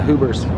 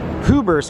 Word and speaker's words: Huber's: actually turns into the hoover's ubers cafe or hoover's which is portland's oldest restaurant pretty cool all right so our next location brings us here to huber's cafe i kept saying it wrong and uh what is